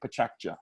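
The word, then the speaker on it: pechakucha: 20 slides 20 seconds and we called it pachacha that means the sound of chit chat in japanese it's an onomatopoeia and this one-off event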